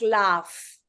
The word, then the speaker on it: laugh: So it usually sounds either aw or it sounds off, like laugh.